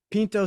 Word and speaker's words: Pinto: P like a Pinto or Pinto Bean.